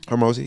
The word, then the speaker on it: Hormozi: Hormozi?